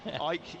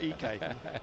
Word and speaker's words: Ike: Ike and Tina Turner, yeah, but I'm not sure that's quite justification for proof that his name is Ike and not EK. But we'll go with Ike.